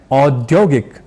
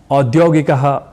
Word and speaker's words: औद्योगिक: हम ना अपनाएं अर्थात यहां भी औ को ओ या ओ ना कह करर औ ऐसे ही कहना है क्योंकि वेदों से लेकर